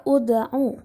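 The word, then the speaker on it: ادْعُ: Yang pertama, pada kata ud'u, hukum tajwidnya adalah qalqalah sughra karena terdapat huruf dal berharokat sukun yang terdapat di tengah kalimat. Cara membacanya yaitu dipantulkan.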